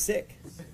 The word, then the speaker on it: Sikh: and that it's Sikh it's actually sick in Punjabi that's the actual real pronunciation believe it or not because a lot of people call it Sikh but it's sick it makes you sick